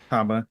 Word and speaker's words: Habba: habba I forget how you say her name Haba you got it right uh she says not